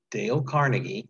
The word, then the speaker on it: Dale Carnegie: as answers for your questions okay okay next dale carnegie that's how you say his name it's a